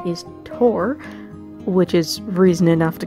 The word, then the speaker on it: Thor: Yes, by the way, I am pronouncing Tor correctly, although most of us natively English speakers butcher the name and say Thor with a TH sound.